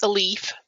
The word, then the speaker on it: Elif: And I don't know if it's Elif or Elif. I've always said Elif. Do you know, Cheryl? It's a leaf. A leaf. That's how I've heard it pronounced.